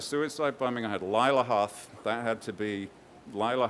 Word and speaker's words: Hoth: my bad person is a girl called Laya Hoth and I said how do you spell that Katie and she said h o t